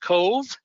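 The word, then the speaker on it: Cobh: So it's C-O-B-H, but it's pronounced Cove.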